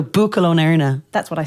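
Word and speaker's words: Buachaill ón Éirne: Buachal on Erain? No. So Buachal on Erna.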